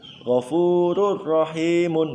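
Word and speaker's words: غفور رحيم: Ghafurun rahimun. Saya ulangi, ghafurun rahimun. Itu lafadznya. Cara membacanya adalah diidghamkan. Tanwinnya hilang. Ghafurur rahim, ghafurur rahimun ya. Langsung masuk ke ro, seakan-akan ro-nya itu ditasdid.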